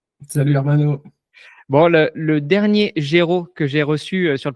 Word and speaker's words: Géraud: Bon, le dernier Géraud que j'ai reçu sur le podcast, et c'est un prénom que je ne connaissais pas avant, c'est Géraud.